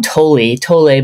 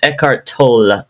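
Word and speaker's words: Eckhart Tolle: by eart tol and I used to call him toi tole but I actually looked it up to see how does he really pronounce his name and it's eart tol it's like a got a roll there but I don't know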